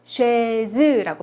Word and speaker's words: chaise: 자, 요거는 아, 이가 결합을 해서 에 발음이 나고요. s는 모음과 모음 중간에 지금 들어가 있죠. 그래서 즈 발음이 나기 때문에 chaise라고 발음을 하는 거예요.